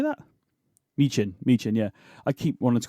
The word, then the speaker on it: Michin: Michin, yeah.